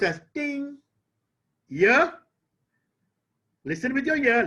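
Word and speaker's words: 听: Chinese character for listening wonderfully written the character pronounced as Ting year listen with your ear listen as if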